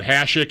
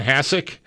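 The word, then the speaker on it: Hasek: Hashik and Hassik. I was thinking Hashik, but Okay. I don't have a firm stance on that one. It's close enough to the same. I say Hashik. Me too. Always have.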